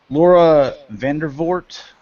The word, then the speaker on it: Laura Vandervoort: Laura Vandervoort, that's how you say it, she's cast as